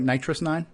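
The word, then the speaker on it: NitrOS-9: But Nitrous 09, am I saying it right? Nitrous 9? Yeah.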